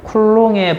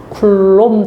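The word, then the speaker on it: Coulomb: 자, 사람 이름은 쿨롱입니다. 이 사람 이름 딴 단위는 요거 전하량 단위인데 C는 쿨롬이라고 읽고요. 알겠죠? 사람은 쿨롱. 자, 사람 이름은 자기 나라 말로 불러줍니다. 자기 나라. 그죠? 그 다음에 단위는 영어로 해줍니다. 알겠죠? 그래서, 자, 이름은 쿨롱이고, 단위는 쿨롬 단위로 이 사람 이름 써요.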